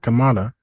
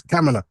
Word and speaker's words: Kamala: you've got camela Harris apparently you have to say it like that it's not Kamala you have to say Cala Kamala I don't know why but that's what people say it's not it's not Kamala it's camela okay and apparent I mean